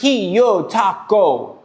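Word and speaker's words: Hyottoko: This is a Hayutoco. I'm not sure that I'm pronouncing that right. So, it's pronounced he yo taco. That is the pronunciation.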